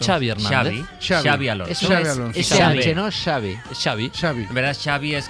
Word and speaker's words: Xavi: En euskera la X no se pronuncia igual que la X en catalán. Es un matiz, es un pequeño matiz que yo le llamo, yo lo catalanizo, yo le llamo Xavi Alonso.